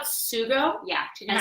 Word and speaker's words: sugo: Sugo? Yeah. Do you know how to spell it? SUGO. Okay, so it just has some like. It's like jugo, Mhm. which is juice, And sugo.